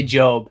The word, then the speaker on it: Job: of job which is is it job or job i never knew joe i mean us americans say job so yes well it's